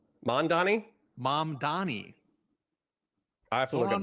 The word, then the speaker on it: Mamdani: Yeah, so I would say, I would pronounce that as mom, like my mom, and then Donnie, like a girl named Danny, but I'm changing the D to an Yeah, you U.